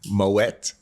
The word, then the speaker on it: Moët: Louis Vuitton Moët Hennessy. Pronounce the T in Moet, please.